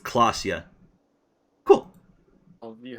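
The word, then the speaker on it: Klaasje: like Ora oh Ora clasia is pronounced clasia cool I'll you how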